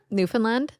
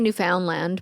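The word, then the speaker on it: Newfoundland: New Finland I in where New Finland is that in Canada yeah that's how you say it well you can say New Foundland but it's New Finland oh yeah you sound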